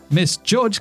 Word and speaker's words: Miss Judge: Miss Judge also sounds like the word misjudge, right?